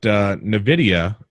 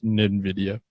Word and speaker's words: NVIDIA: Actually, NVIDIA, not NVIDIA. Yeah, it's NVIDIA. It's basically... Well, it's spelled wrong. NVIDIA, the GTX 10 series... is not silent, but it's see-through. It's NV. Yeah, it's NVIDIA.